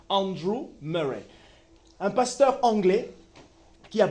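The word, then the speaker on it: Andrew Murray: Andre Andrew Andrew Muray je vais le prononcer en anglais Andrew Muray un pasteur anglais qui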